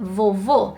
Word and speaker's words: vovô: So, grandma in Portuguese would be vovó, and grandpa would be vovô.